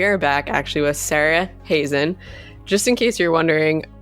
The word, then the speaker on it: Heesen: yes I am but her actual last name is pronounced Sarah Hazen like raisin and this is actually